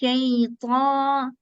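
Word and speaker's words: الشيطان: A'udhu billahi minash shaytan. Ta is a heavy letter. It's not ta. Okay, it's not the ta. So they say minash shaytani. It's wrong. Shayta, ta.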